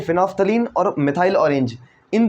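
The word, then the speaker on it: phenolphthalein: तो PM प्रधानमंत्री, फिनोल्फ्थलीन और मिथाइल ऑरेंज, फिनोल्फ्थलीन मिथाइल ऑरेंज, ठीक है। वैसे इसमें एल वेल साइलेंट है इसलिए इसको आप फिनोल्फ्थलीन कह देते हो, ठीक है।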